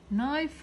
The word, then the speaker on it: knife: ننتبه إنه حرف ال K silent، مش حدا يلفظ لي اياها، خطأ كبير big mistake. knife هنا silent لا تلفظ بس الكي.